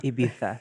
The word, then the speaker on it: Ibiza: Say it correctly, yeah. Ibiza. Ibitha.